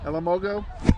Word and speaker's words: Elamogo: Elamogo? Got it. Thank you. I had the accent on the wrong syllable when I introduced him earlier.